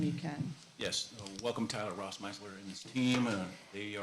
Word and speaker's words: Rossmeisler: And she said, make sure she knows it's Rossmeisler. It's 3 syllables. And I know it's a tough one, so that's my grandma's advice, 3 syllables.